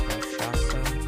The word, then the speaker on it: Rakshasa: It is pronounced Rakshasa, and I know people are like, the new names for coasters are getting out of hand.